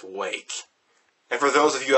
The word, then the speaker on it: Rwake: of just copyright infringement they adopted the r in front of wake but it is still pronounced wake and for those of